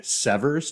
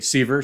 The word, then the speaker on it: Severs: this year and I addressed him as Jeffrey severs to which he uh promptly but courteously uh told me that it's actually sver so I'm really excited